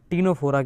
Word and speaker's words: Ctenophora: जा रहे हैं फाइलम टीनो फोरा के बारे में सी साइलेंट बाकी सब वायलेंट फाइलम टीनो फोरा एनसीआरटी